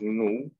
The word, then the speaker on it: nous: Él, nosotros, que es nu. ¿Sí ven? Acá tenemos la O con la U, que se pronuncia U, y la S no se pronuncia.